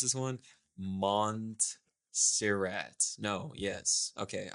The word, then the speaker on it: Montserrat: Montserrat. No, yes. Okay, I called it Monsterrat for the first few years. I was using it.